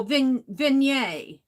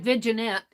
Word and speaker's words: vignette: for studying that out the g is silent oh vignette vignette I say Virginia but it's vignette I believe yeah vignette vignette then yet then yet okay vignette I like viginette I pronounced it like